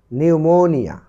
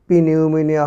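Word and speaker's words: pneumonia: অর্থাৎ কিছু কিছু কনসোনেন্ট আছে তার পূর্বে যদি পি থাকে সেখানে পির উচ্চারণ হয় না। দেখো এখানে নিউমোনিয়া, এটি কিন্তু পি নিউমোনিয়া হয়নি, হয়েছে নিউমোনিয়া।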